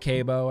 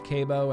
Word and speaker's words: C.A.B.E.O: It's pronounced CABEO.